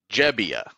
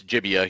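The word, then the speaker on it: Gebbia: actually just looked up if you look up Tristan his name pronunciation it says sounds like jebia where does it say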